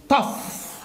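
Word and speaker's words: tough: زي كلمه طف، زي كلمة ايه؟ طف حاد وناشف وجامد تمام؟ طف.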